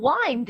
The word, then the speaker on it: wind: 하나의 기술이 되겠죠 사실은 여러분이 wind를 보는 순간 이게 감 단지 바람인지를 내용에 파악에 맞춰서 발음이 떠오르셔야 돼요 바람만 나한테 너무나 자연스럽게 완전 이렇게 읽어지는데 갚는 거면 와인드 이렇게 읽어 줘야 된다는 얘기죠 사실 이런 부분들도 여러분이